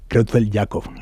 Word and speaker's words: Creutzfeldt-Jakob: Usted es el padre de José Manuel, un joven de 30 años al que le diagnosticaron la enfermedad de Creutzfeldt-Jakob. ¿La pronuncio bien? ¿Es así? Sí, perfectamente.